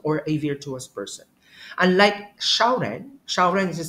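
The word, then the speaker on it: 小人: person Superior person or a virtuous person unlike shaan shaan is spelled as x i a o r e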